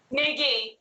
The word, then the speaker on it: Knigge: Niggy. Yeah. Knigge. Knigge. Yeah. See, It's Dutch. like Gimpy, but Knigge.